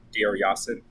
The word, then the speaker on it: Deir Yassin: Is that how you pronounce that? Deir Yassin? Deir Yassin.